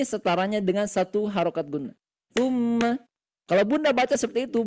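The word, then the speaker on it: ثُمَّ: Tumma. Nah, itu cara baca dengan tiga ketukan lam lamban. Tum. Jangan tsumma. Nah, kalau tsumma itu hanya dua ketukan, Bunda.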